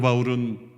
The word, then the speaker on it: 바울: 일을 일어나지 않습니다 사도 바울은 어떤 바리새인 보다도 더 열정적으로 교회를 핍박할 했어요 3반 집사님이 순교할 때 사울의 이름이 거기 나옵니다 이 사울은 히브리 식 발음이 고 바울은 헬라 씩 발음 이에요 그래서 유대교의 상태 있었을